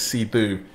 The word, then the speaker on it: Sithu: So I think Sithu, the Burmese pronunciation is Sithu, it's an old title for royalty in Burma.